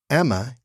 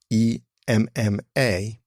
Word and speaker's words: Emma: the listeners great annoyance I was pronouncing the name Emma e m m a as Emma as if it was spelled i m m a that review was left